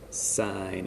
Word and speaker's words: sin: don't call it tan you still pronounce it the full word sine cosine tangent that is the same